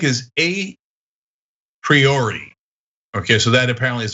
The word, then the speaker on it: a priori: it um and and i used to say priori and it sounded so awkward and it's somewhat right there is an alternative explanation uh pronunciation there but i'm like i gotta stop saying it a priori sounds ridiculous um but have